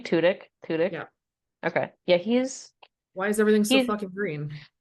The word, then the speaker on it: Tudyk: Tudyk?